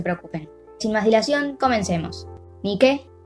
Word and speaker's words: Nike: En teoría, se pronuncia Nike o Nike. mientras que la diosa se pronuncia Nike, con tilde en la última letra.